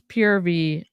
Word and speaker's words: Purvii: it they um they they say it's purvy I I say pervy so that's why I'm